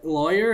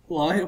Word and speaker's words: lawyer: Midway how'd you pronounce the first syllable of lawyer rhymes with boy rhymes with flaw I use both pronunciations interchangeably or other lawful law lawyer and law lawyer what some people say